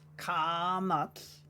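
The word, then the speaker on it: קָמָץ: Kamatz is a longer A sound, so if we say it properly, it's kamatz.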